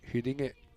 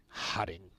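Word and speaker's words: Huddinge: I think my favourite Corey pronunciation is Hudinge from Sweden, who were the ECL team. And he just called them Hudding. Not quite the subtleties of the Swedish vowels.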